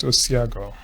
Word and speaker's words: Osiago: Yeah, it's pronounced Osiago.